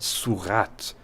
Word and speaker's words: surat: the silent T, and the French pronunciation, not surah, but surat, from the form with the not-so-silent T.